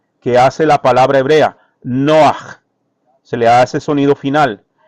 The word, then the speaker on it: נֹחַ: Noach.